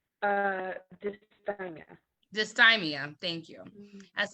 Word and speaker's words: dysthymia: I pronounced it right? dysthymia.